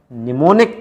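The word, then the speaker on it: mnemonic: निमोनिक codes, am silent S में, ठीक है ना, निमोनिक कोड्स।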